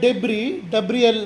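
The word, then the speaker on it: debris: ಇದು ಕಸನೆ ಈಗ ಡೆಬ್ರಿ ಇದರ ಉಚ್ಚಾರ ಡೆಬ್ರಿ ಡೆಬ್ರಿಸ್ ಅಲ್ಲ ಡೆಬ್ರಿ ಡಿಇಬಿ ಆರ್ ISS silent ಡೆಬ್ರಿ ಹಳೆಯ ಕಟ್ಟಡಗಳನ್ನು ಕೆಡವಿದಾಗ ಅಥವಾ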